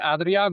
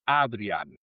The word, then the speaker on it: Adriaan: Si dices Adrián, me parece bien, pero en Ok. holandés es Adrián.